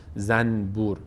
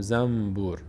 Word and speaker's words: زنبور: در فارسی هم مثالش همیشه گفتم، زنبور مثلا ما نمیگیم زنبور، نون رو میم تلفظ میکنیم میگیم زنبور، زنبور.